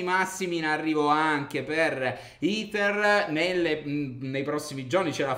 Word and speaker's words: Ether: Ethereum, o Ether, ragazzi, sarebbe meglio pronunciarlo nel modo giusto. Forse è meglio iniziare a parlare dicendo Ether.